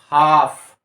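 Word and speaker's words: half: direct आप कीजिए ना एल को छोड़ दीजिए एच ए एफ हाफ ठीक है और नेक्स्ट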